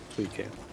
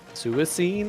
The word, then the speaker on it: Suicune: Suicune. I, as a lad, pronounced it Suicine, I think, which is just totally objectively wrong.